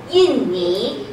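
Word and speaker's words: 印尼: Yinni. Yinni. Okay, Yinni for Indonesia. So it's not Indu, it's Yinni. Yin. Yinni. Okay? Yinni. Yinni. Okay. We're lazy. Inni. Everybody's lazy. Yinni.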